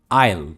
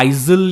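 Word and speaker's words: aisle: मी S Linnaeus miscellaneously पर है इल बहुत सिंपल प्रिंसेस है इल इल मतलब जैसे अगर प्लेन में जा रहे हो या ट्रेन में जा रहे हो दो सीट्स के बीच में जो जगह होती है ना लंबी लंबा पैसे होता है उससे इल कहते हैं इल या इजील या ऐसा इसी प्रनंसीएशन नहीं है ये है इल नेक्स्ट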